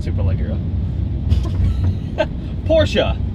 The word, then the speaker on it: Porsche: not super low girl Porsha not American just say Porsche I think it's actually the Germans actually put on something fortunate yeah like eh Porsche it they say it different but it's not Porsche it doesn't rhyme with porch no it's definitely not a porch and it is not